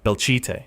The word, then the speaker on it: Belchite: Number eight, Belchet, Spain, pronounced Belche.